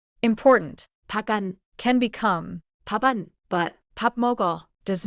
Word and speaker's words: 밥 먹어: 밥 먹어 is usually heard like 밤 먹어 because of another sound rule but not because of this linking rule. important can become 밥안 but 밥먹어 does not become 밥어 이제 실제 짧은 대화로 들어볼게요.